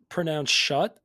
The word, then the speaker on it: Schutt: I think it's pronounced Schutt, like SCHUTT 69.